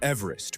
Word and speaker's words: Everest: George Everest pronounced his own surname as "EVE-rest." Rhyming with "cleave" or "sleeve."